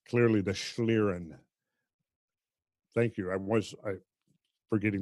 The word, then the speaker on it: schlieren: in German and it you always pronounce the second one which when they're together it's always the second that's right the second